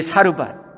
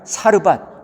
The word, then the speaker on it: 사르밧: 여러분이 사르 사렙단은요 사르바이 사르바의 그리스 발음이에요.